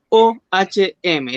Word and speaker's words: Ohm: Así se escribe Ohm, O-H-M, ley de Ohm.